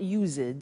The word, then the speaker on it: used to: It's U-S-E-D and then T-O. But the pronunciation is not used, it's used. Unusual.